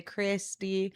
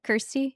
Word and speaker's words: Kirstie: Well, I don't think it's difficult for people to say, but it's like they read it and they want to say Kirstie or they want to say Christy Do or I they.